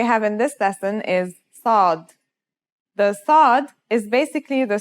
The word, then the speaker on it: صاد: the last lesson, and it kind of sounds like the S in the word saw. This sound is pronounced with your throat constricted. Listen to صاد and sin with the vowel alif we learned in the first lesson.